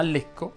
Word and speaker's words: Lecco: Ovviamente non sono a Lecco, ma Lecco va pronunciato con la E chiusa.